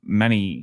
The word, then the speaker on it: Mani: to pronounce it, is Manny as in manicure.